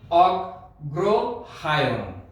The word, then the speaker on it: অগ্রহায়ণ: অগ্রহায়ণ উচ্চারণটি হবে অগ্রহায়ণ।